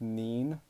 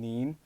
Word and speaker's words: 您: There's also a formal version, which is pronounced 您, kind of with an N sound in the end, 您.